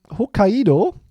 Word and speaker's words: Hokkaido: And then I'm going to go to Hokkaido. I think that's how you pronounce it.